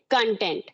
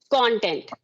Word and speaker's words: content: same spellings, yeah, but according to its function, it changes its pronunciation. If I am using this word as a verb, I will say content. If I will use this word as a noun, then it should be content.